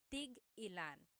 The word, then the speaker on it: tig-ilan: So tig-ilan, when there's a hyphen in it, you have to have that glottal stop. Tig-ilan.